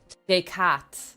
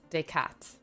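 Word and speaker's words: Descartes: Is it decar day? Decat. Decat. Okay. I've been pronouncing it wrong.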